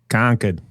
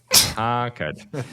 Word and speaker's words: Concord: So this is a prison facility in Concord, Massachusetts, which is saying it actually wrong. Right across the street from You're saying it wrong. Hit me. Concord. Concord. All right. Thank you, Boston guy.